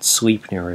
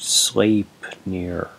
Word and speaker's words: Sleipnir: It's not Sleipnir, it's pronounced Sleipnir.